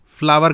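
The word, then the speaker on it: flour: अच्छा, इसका प्रोनाउंसिएशन भी अक्सर लोग गलत करते हैं. कोई फ्लोर पढ़ रहा है, कोई फ्लावर पढ़ रहा है, फ्लावर कहा जाता है इसको.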